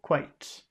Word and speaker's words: quite: uh quite quite quite just one sound it's one syllable quite quite quite and what